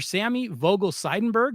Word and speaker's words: Sammy Vogel-Seidenberg: I want to make sure I pronounce this correctly. Dr. Sammy Vogel Seidenberg.